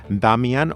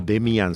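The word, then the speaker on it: Damien: Los tres están en la clave de la adopción de ese niño que se llama Damian o Demian, según como lo queramos pronunciar, es el nombre que tiene la criatura.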